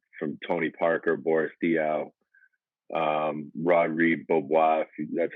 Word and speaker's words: Rodrigue Beaubois: You mentioned it, some of the guys way back from Tony Parker, Boris Diaw, Rodrigue Beaubois, that's how you pronounce his name.